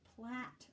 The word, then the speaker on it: Platte: would be pronounced the platte river it looks like plate with two t's but it's pronounced plat river okay so make sure